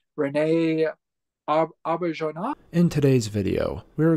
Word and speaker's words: René Auberjonois: I'm going to say Rene Auberjonois. In today's video, we are going to learn how to pronounce famous actor Rene Auberjonois. Rene Auberjonois. René Auberjonois.